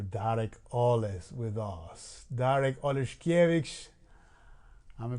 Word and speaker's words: Oleszkiewicz: Darek Oleszkiewicz. Am I pronouncing it right? That was You got it. Perfect. Oleszkiewicz.